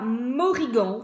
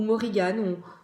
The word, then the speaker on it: Morrigan: Donc, on a la Morrigan, ou Morrigan, on prononce comme on veut.